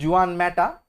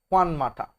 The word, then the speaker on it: Juan Mata: Juan Mata, not Juan Mata, Juan Mata is the proper way to pronounce the gentleman's name.